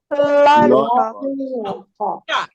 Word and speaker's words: lollipop: Lollipop. Lollipop. Aqui você não pronuncia o ó, porque ele vai ficar tão fraquinho, quer ver?